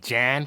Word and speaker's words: Jon: get left walk john just just john it's actually pronounced jan cause jan's from new york